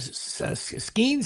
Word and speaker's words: Skenes: And for some reason, uh what's-his-name uh the pitcher on US Is that Skenes? How do you say his name? Mhm. Paul Skenes, yeah.